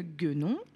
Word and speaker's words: guenon: Une guenon, on entend bien le son G.